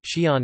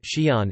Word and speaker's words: Xi'an: The apostrophe known in Chinese as a Zhe Yin Fu Hao, Zhe Yin Fu Hao should be included to distinguish its pronunciation from the single syllable Xi'an.